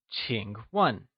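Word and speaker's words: 请问: as Ching one or do we say Nina or will it be wayna to say may I ask we say Ching one great let's get back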